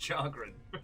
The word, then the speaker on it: chagrin: To the chagrin of his grim lord father. It's pronounced chagrin.